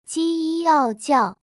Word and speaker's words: 叫: 我叫叫 My name is 我是第三声，叫叫是第四声。例如，我叫 Amy，My name is Amy。你可以叫我 You can call me。